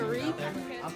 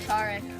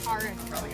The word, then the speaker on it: Tarek: And my name's pronounced Tarek. Tarek. Yes. What's on my puzzles? You want to do a team blind? Yes. What? You want to do a team blind? Sure. You want to be blind? Yeah. Okay. I'm doing a team blind with Tarek. That's how you pronounce it, right?